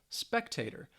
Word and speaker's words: spectator: so it's a noun it has three syllables and the stress is on the first syllable spec teh - spectator and these are people